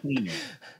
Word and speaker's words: Hlynur: without that, because it's it doesn't look like that's how you pronounce it. Am I right, Mark? Hlynur. So that's Hlynur.